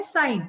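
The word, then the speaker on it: sign: तो डी साइलेंट है साइन इसको बोलते है साइन तो इसमें जी साइलेंट है कोम इसमें बी नेम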